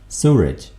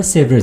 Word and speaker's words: sewage: ये स्पेलिंग ठीक कर लें, यहाँ W के बाद ERAGE, सूरज, ओके, जिसको हम आमतौर पर सेवरेज बोल रहे होते हैं.